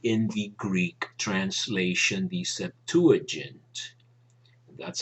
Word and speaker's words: Septuagint: especially and exactly in the Greek translation, the Septuagint. That's how you pronounce it. I tend to say Septuagint, but the 70, whatever.